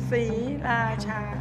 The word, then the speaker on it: Sriracha: Three very distinct syllables. Sriracha.